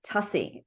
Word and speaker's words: Tuccy: I am Tuccy all the time, but it's actually Tuccy, rhymes with fussy.